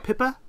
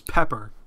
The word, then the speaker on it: Pippa: the oh Lisa yeah I totally pronounced it I thought it was pepper I thought it was Pepper too Alex that's just his accent at work it wasn't until I saw it written out I'm like okay